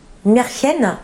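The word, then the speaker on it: Märchen: des ties en fait marchenen c'est précisément prononcé Meren en allemand oui et au Japon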